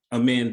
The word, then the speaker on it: A2MEND: What we have done, we call ourselves AMEND, but it's spelled A2MEND, the number 2.